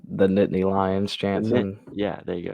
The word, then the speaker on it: Nittany Lions: Penn State Nittany knit frick the line it's pronounced the Nittany Lions chance and yeah there you go you can't